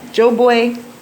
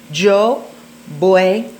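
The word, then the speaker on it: voy: You know, Joe Boy, Sosua. Joe Boy. That's pronounced with a V. I mean a B, even though it's spelled with a V.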